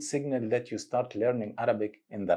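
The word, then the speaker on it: عربي: We will say Arabi, Arabi, Arabi, Ghein, Arabi.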